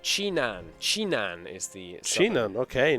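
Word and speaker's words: Jinan: I'm being told that it's pronounced Chinan.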